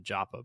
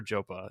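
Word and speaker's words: Joppa: I I I was I was mentally pronouncing Japa, but I I I hear Jopa and I respect authoral intent of its creator.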